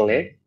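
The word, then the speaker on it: anglais: অংলে।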